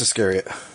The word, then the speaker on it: Iscariot: I don't know how to pronounce his last name. Is it Iscariot? Does anybody know? Yeah, Judas Iscariot.